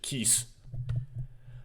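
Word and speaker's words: キス: a borrowed word but when you have Su at the end of a word you typically don't pronounce the uh so just kiss um interesting um and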